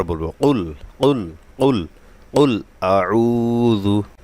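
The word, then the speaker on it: أعوذ: কুল কুল কুল কুল আউজু এখানে আইনটা গলায় নিতে হবে অনেকেরই এটা হয় না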